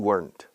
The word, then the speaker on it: weren't: You weren't. You weren't my student 5 years ago. Weren't. Contraction, were not. Listen to the pronunciation. Weren't. Weren't. Weren't. The British, weren't. Common denominator, one syllable. One syllable.